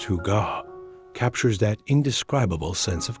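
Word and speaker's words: hygge: This Danish concept pronounced huga captures that indescribable sense of coziness, contentment, and well-being that comes from simple pleasures.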